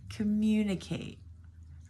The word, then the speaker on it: communicate: Number 9, communicate. Communicate. Our stress here is the second syllable.